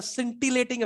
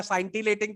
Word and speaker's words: scintillating: इट हैड अ सिंटिलेटिंग effect. तू बोलेगा साइंटिलेटिंग तो सब हंस देगा।